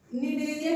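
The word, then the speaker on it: Cnidaria: अब हमें second study करना है सिलेंट्रेटा के बारे में, जिसे हम निडेरिया के नाम से भी जानते हैं। देखिए, इसमें सी साइलेंट है, ठीक है।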